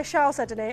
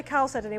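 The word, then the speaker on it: chalcedony: Guy likes to say shedony. I say calcedony.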